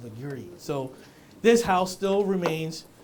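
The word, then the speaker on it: Legare: Legree? Is that how you pronounce it? Because I was like Lagar. They're like, no, chef, it's Legree.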